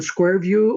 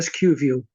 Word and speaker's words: SQ View: Now, do you pronounce the program Square View or SQ View? I say SQ View. Okay. I don't know where Square View comes from, but I always call it SQ View.